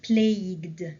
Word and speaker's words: plagued: the whole country was plagued this is how we pronounce it when you have g-u-e or q-u-e you by the currency collapse